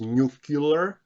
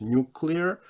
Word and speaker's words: nuclear: are called nuclear negatives former president george w bush used to pronounce this word as nucular but don't do that it's nuclear so these are words